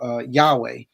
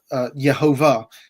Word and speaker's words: Yehovah: We then start to see the vowel pointings of Yahweh, sorry, of Yehovah, not Yahweh, of Yehovah into the manuscripts.